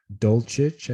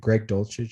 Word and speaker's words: Dulcich: Got Jelani Woods for the Colts and Greg, I don't know how you pronounce this, Dulcich, I think you pronounce it, Greg Dulcich for the Denver Broncos.